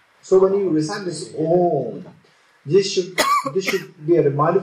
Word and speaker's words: Om: So this syllable Om is a syllable which is consisted of 3 letters. A, U, Ma.